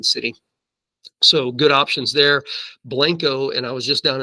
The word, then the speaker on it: Blanco: but it looks like Blanco guys Texas we've got we speak our own brand brand of Spanish down here so it's pronounced Blanco um but that Town